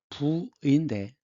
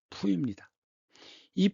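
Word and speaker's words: 溥儀: 한자와 발음은 부의인데 중국 발음은 푸입니다.이 푸인는 청나의 마지막 황제인데 세 살이 되기 전에 황제 자리에 올라갑니다.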